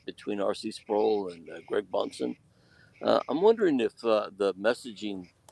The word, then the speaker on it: Bahnsen: Of course, Bonson is spelled Bahnsen.